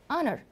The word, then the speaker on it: honor: an hour and also for honor the H is silent so you are pronouncing the vowel a and honor so it's what you